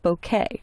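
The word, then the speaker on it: bokeh: rotate now there's a lighting effect called bouquet and that's actually how it's pronounced and if you'll notice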